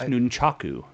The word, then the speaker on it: nunchaku: It's nunchaku. Get it right.